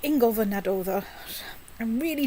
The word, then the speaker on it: Naddoðr: Old Icelandic is a protonically stressed language, like nearly all Germanic languages. Go on, say it again. Naddoðr.